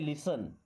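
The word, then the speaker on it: listen: इस वर्ड के बारे में आपको एक बार पहले बताया गया है कि यहां पर टी साइलेंट होता है और इसे पढ़ते हैं लिसन लिसन लिसन लिसन मी्स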